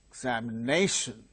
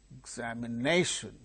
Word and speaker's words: examination: For instance, examination, examination. So, which syllable is gaining primary stress? Nation. Exam, exam. The second syllable gains secondary stress. Secondary stress is gained by second syllable here.